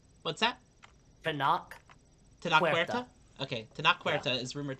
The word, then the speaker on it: Tenoch Huerta: I don't know how to pronounce this actor's name. Tenoch Huerta. What's that? Tenoch Huerta?